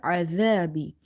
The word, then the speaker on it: العذاب: You have to say minal adhabi by suppressing this za sound. Okay, if you say bimuzah zi hihi, but if you say adhabi, you can see there are difference in pronunciation.